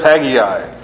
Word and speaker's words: Haggai: Okay, so next book up is Haggai.